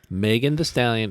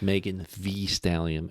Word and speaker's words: Megan Thee Stallion: So Megan the Stallion, it's not pronounced Megan the Stallion.